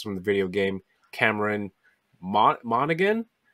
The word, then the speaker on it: Monaghan: the video game cameron monaghan is that how you pronounce that last name i always thought it was monahan monahan yeah i don't